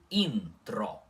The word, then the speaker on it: intro: Intro. Intro com o N puxado antes do T, tá bom?